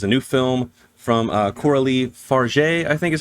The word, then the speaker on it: Fargeat: But she is French, so I believe it is Farge.